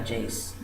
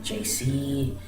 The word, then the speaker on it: Jayce: So I started going by Jayce, writing Jayce on my papers and whatever, and people would start pronouncing it JC, and I don't know if that was because they actually think it's pronounced like that, or if it was